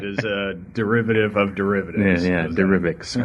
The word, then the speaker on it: Derivix: Derivix is correct. Yes, it is a derivative of derivatives. Yeah, Derivix.